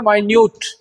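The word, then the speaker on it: minute: ये वर्ड है, हम वी can pronounce it इन two ways, माइन्यूट एंड मिनट। इन the reference of time it will be मिनट, इन the reference of size it will be माइन्यूट।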